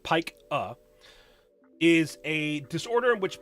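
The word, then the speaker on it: pica: PAH or P IA but pronounced pike uh is a disorder in which people will exhibit the behavior of eating non-food items.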